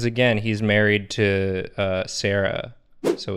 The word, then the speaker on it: Cera: prison oh my god it is spelled sarah as in c-e-r-a like michael michael sarah that's where they got